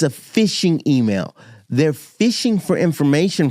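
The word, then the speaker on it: phishing: you can use there's a thing called fishing emails and it's spelled p h i s h i n g fishing emails they'll come across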